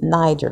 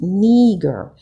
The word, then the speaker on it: Niger: Now I know typically or traditionally we were taught that this is Niger, called Niger, but it's pronounced, when you look at the breakdown of the word, it's called Niger, which many believe is the original word that